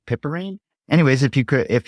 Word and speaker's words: piperine: black pepper called I I'm not sure how to pronounce it but it's piperine I think p i p e r i n e pepperine anyways if you could